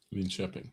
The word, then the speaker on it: Linköping: So So this is I tried to pronounce the word the name of the city. Linköping. Linköping TV. Come Yes. on, Linköping? Linköping, yes.